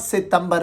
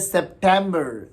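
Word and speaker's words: September: सेप्ट, सेप्ट, इट इज़ नॉट सितंबर एट ऑल, इट इज़ नॉट सितंबर एट ऑल, इट इज़ सेप्टेम्बर, सेप्टेम्बर।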